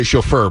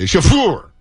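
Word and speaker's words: chauffeur: how you pronounce it a lot of people say chaur but I I say it correctly shaur shaur this French uh May boox if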